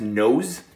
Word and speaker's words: nose: pretty basic word actually that's nose nose but but that's an s not the z um yeah that's true